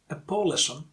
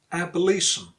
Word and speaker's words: abolition: In the word abolition, you stress li because that's the second to last syllable. Last syllable is shin and second to last is li. So abolition. So it's not abolition, it's abolition.